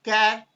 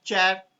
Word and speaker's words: char: So there is a data type called char, or even it can be pronounced as chat. So it depends. Basically, char is the abbreviation of character.